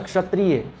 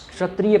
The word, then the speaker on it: क्षत्रिय: हैं क्षत्रिय है ना क्षत्रिय क्षत्रिय पढ़ेंगे इसको क्या सर क्षत्रिय क्षत्रिय थोड़ा हल्का क भी होना चाहिए हल्का ई वाला स